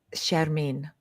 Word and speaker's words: Shermin: there you go uh give us the correct pronunciation of your first name if you would sharmine ah you say it's so much more beautiful